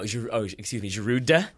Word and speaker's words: Giroud: Giroud. You don't like that one? Giroud, and I think it's very rude to pronounce the D.